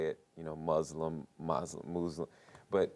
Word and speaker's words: Muslim: many different ways people say it you know Muslim Muslim Muslim but it's pronounced Muslim and you know it the mispronunciation the misspelling